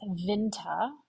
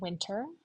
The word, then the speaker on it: Winter: Let's start with vinta, not winter.